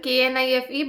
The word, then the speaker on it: knife: For example, knife. Obviously, it has written KNIFE, but we don't pronounce the sound of K. We say knife.